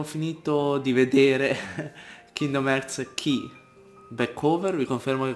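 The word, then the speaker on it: χ: Allora, abbiamo finito di vedere Kingdom Hearts Key Backover. Vi confermo che quella sottospecie di X si legge Key.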